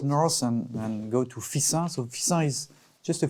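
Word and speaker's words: Fixin: them this one especially so you pronounce fisa or fixer with double s yes double s like so we say of course we say fisa and this this one's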